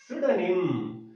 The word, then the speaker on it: pseudonym: ಇವರ ಕಾವ್ಯ ನಾಮ ಬಂದ್ಬಿಟ್ಟು pseudonym. ನಾವು ಅಲ್ಲಿ you have to check the spellings, PSEUDONYM, but here P is silent.